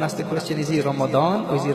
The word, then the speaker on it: Ramadan: The real word in Urdu is Ramazan and the word in Arabic is Ramadan.